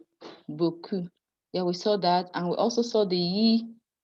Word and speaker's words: beaucoup: The EAU being pronounced as O. That's why we say O, the lo, beaucoup.